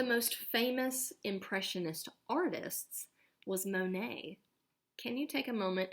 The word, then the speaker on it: Monet: Monet M o n L mu net we pronounce it Monet Monet's paintings were created to make you feel